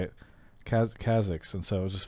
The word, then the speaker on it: Kha'Zix: dialects, but it's just funny because I hear Kazix and I'm thinking like Ziggs, but Kazix is, I think, how most people say it. Kazix, and so it was just funny when you were saying Kazix it's definitely Kazix.